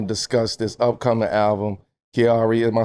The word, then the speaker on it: Kiari: So, today with with with Offset, we're going to discuss this upcoming album, Kiari.